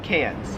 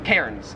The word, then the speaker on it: Cairns: and you all have cans Australians love to get Americans a hard time for mispronouncing these cities we call Melvin Melbourne and we call cans Cairns because there's like an R there well my question for